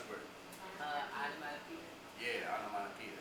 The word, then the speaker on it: onomatopoeia: How do you pronounce the word? Onomatopoeia.